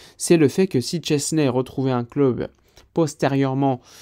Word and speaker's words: Szczęsny: On le connaît tous sous le nom de Szczęsny, mais si j'ai bien compris, on le prononce Szczęsny.